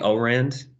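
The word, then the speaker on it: Ourand: all Rand it's pronounced it's spelled o u r A and D probably o Rend is his last name assuming uh so right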